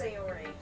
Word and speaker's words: Sayori: I think it's pronounced Sayori.